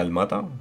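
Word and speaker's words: Almaty: mercado de cazan sarayu almata creo esto se pronuncia almata pone almati no pero creo se pronuncia el mata estoy bastante bastante seguro eh chim turura que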